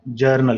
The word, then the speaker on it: journal: एंड B late और इसको हम जनरल चैनल भी कहते हैं जनरल नहीं होता चैनल जल्दी ठीक है कि जरनल है जिसमें आप एंट्री घटना